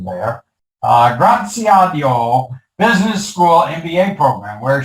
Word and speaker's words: Graziadio: professional service firms she's a graduate of pepperdine's graziado i sorry for that mispronunciation there uh graziadio business school mba program where she attended night